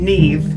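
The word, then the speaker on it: Niamh: in this would be his name neve and i had to make sure i was pronouncing that name correctly because it's spelled n-i-a-m-h nearly everyone else in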